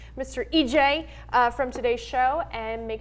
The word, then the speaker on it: Ije: I swear to gosh is it EJ or yeah that's right no but you said